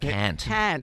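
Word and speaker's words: Kant: Oh, it's called Serving K A N T. How would you pronounce that? Serving can't.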